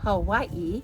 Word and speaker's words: Hawaii: Hawaii is actually Hawaii. The W in Hawaii sounds like a V.